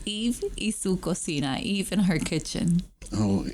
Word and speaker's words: Eve y su cocina: business called, and I'm going to let you pronounce that because that's a little tongue twister for me. It's Eve y su cocina, Eve in her kitchen.